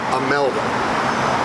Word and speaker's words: Imelda: The reason I say Imelda, you really pronounce it Imelda, but everybody spells it A-M-E-L-D-A, not that she's sensitive to that, but we have I-M-E-L-D-A Paclabar, Imelda Paclabar, award-winning actress.